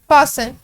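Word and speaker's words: fasten: फासन, फासन का मतलब होता है रोज़ा रखना, तो जो इसमें टी है वो हमारे पास साइलेंट साउंड है।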